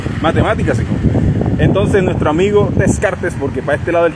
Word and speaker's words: Descartes: Que si tú le dices Descartes a un francés, te menta la madre, porque los franceses son exquisitos, les gusta pronunciar no tienen tantas letras, pero les gusta pronunciarlos exquisitos. Usted por ahí puse en el translator, nuestro amigo Descartes, para ellos es Descartes. Y yo, vaya, hijo de puta. O sea, se comen la R, la S.